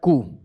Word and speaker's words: coup: Whenever an army overthrows a government, the process is called coup. Coup बोलते हैं. And after coup, UNTA is established. P silent, J is silent.